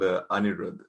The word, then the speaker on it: Anirudh: Is it Aniruddha? Aniruddha? It's called Anirudh. That's how you pronounce it.